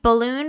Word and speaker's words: Walloon: the balloon communist uh spelled like balloon but with a w inner balloons balloon I